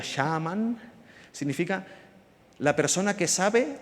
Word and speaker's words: shaman: Por cierto, chamán es una palabra muy bonita del urdu que significa, se pronuncia shaman, significa la persona que sabe o que arde en la llama del conocimiento.